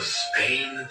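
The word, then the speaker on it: SPANE: The study is called the Spain Scale of Emotion Research Project, and that's spelled S-P-A-N-E.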